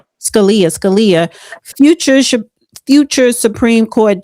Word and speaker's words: Scalia: incorrect cuz they said um a young Anthony Scalle. That's how you pronounce Scalia. Scalia.